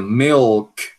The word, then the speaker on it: milk: Outra palavra do dia a dia, milk, milk, milk. A gente tem que dizer milk, então milk.